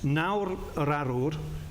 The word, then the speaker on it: Nawr Yr Arwr: Nawr Arwr, is that correct pronunciation?